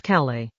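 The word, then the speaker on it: Calais: Agene's group was running through the harbor district of the city of Calala. Incidentally, as a French city that s is silent, the camera tossed into the northern Atlantic showed the rusted hulk of the warship is still there, right?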